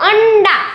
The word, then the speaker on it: अंडा: जब हम अंडा ऐसा बोलेंगे तो बीच में हमें न सुनाई देता है, राइट।